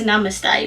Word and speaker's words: Namaste: Like, obviously it's Namaste.